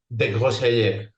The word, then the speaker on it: Desgrosseilliers: It's going to be Desgrosseilliers. Oh, that is a beautiful pronunciation.